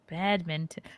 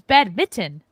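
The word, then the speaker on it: badminton: there you go right bad Minon it's bad Minon I thought it was bad Mitten bad Min bad Minon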